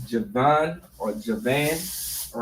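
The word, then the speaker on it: יָוָן: And it's Javan or Javan, all right? In the Hebrew, it is pronounced Yawan. Yawan.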